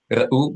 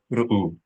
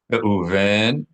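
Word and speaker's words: רְאוּבֵן: The only difference will be that the schwa's pronunciation of u will be much more abrupt, much shorter, unaccented. So not ra'u, but ru'u, ru'u. Reuven, Shim'on, Shim'on, Lewi, Lewi, Yehudah, Yehudah.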